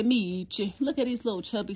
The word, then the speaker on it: Meech: Last time I showed him, I mispronounced his name, but it's baby Meech.